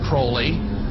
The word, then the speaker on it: Crowley: Crawley he likes Sabrina have his name pronounced Crowley to rhyme with holy and uh the statements